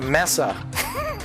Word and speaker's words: Mesa: got work to do messy Mesa it's a it's a messa it's pronounced Messa after I blow a